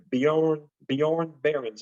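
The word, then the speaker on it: Björn Barends: That's Will Call's boy, Bjorn Barron's.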